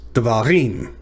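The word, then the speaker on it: דברים: So it's not devarim, and it's not devarim, it's devarim. So the emphasis is on the last syllable.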